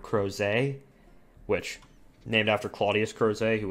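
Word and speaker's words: Crozet: don't know I only know that's how you pronounce it because there's a town in Virginia called crows a witch named after Claudius crows a who was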